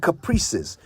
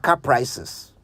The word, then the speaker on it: caprices: you took note of how to say it right it's whims and Caprices not whims and C prices whims wh I Ms